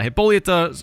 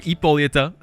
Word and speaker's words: Hippolyta: ladies man so uh hippolyta or sorry ippolita i'm gonna mess up the silent h a lot because i don't speak greek obviously but anyway she